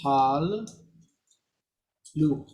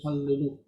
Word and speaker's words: hallelu: It's hal, lu. Oh yeah, Hal- that's right. lu. That's right. It is. But you don't say hal lu, you say hallelu.